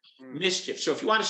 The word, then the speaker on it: MSCHF: year a company called mischief and by the way it's spelled funny it's m s c h app mischief so if you want